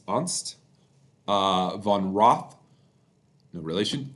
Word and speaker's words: Ernst: prior German Junior diplomat it's spelled Ernst it's unst uh Von Roth no